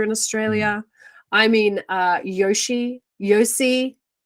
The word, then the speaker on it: Yossi: xylophobia we've talked about maggots let's talk about Yoshi Ginsburg Yoshi I believe that's how you pronounce it and I don't mean OSHA Ginsburg the reality television host here in Australia I mean uh Yoshi Yoshi y o s s i that's cool